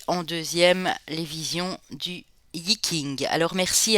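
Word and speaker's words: Yi Jing: Et elle m'a dit ben voilà ça s'écrit J mais ça se dit King.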